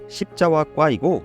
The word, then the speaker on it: 십자화과: 흔히 AI 음성으로 제작된 영상에서는 십자화과가 아닌 십자화과로 발음이 돼서 어떤 과일을 말하는 것처럼 인식할 수 있는데요. 실제 발음은 십자화과이고 한문으로는 열십, 글자자, 꽃과 과목과로